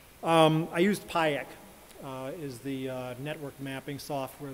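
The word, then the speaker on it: Pajek: I used PIEC, is the network mapping software that I used for the, it's PIEC, and that is spelled P-A-J-E-K, which means spider in Slovenian.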